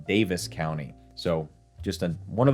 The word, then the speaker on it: Daviess: Number one, pronunciation. I thought this was Daviess County for the longest time. I was quickly corrected, checked it out online. Looks like it's pronounced Daviess County.